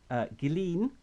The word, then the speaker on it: Ghislaine: Because the one thing you can say that Ghislaine, I believe that's the correct way to say